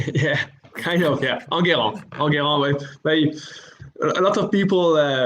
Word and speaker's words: Enguerrand: just bring in Enguerrand.